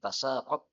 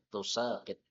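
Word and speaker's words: تساقط: Ada juga bacaan yang lain tasaqat, berarti sinnya tanpa tasydid. Bacaan yang kita baca biasanya tusaqit. Jadi tasaqat jumhur, tasaqat tanpa tasydid, tusaqit. Ya. Semuanya adalah qiraah yang mutawatir.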